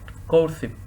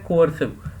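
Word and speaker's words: coercive: Word है हमारे पास कोर्सिव। 29th word हमारे पास कोर्सिव, COE, सॉरी ये 29th वर्ड मैंने गलत प्रोनाउंस कर दिया, ये है कोअर्सिव, COERCIV, कोअर्सिव बोलते हैं इसे, कोअर्सिव, कोअर्सिव।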